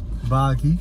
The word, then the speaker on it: Baaghi: sea all right IG how do you pronounce it you pronounce it buggy buggy buggy see I